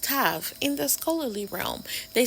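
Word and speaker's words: תו: last character on the chart and it is pronounced Tav in the scholarly realm they say it means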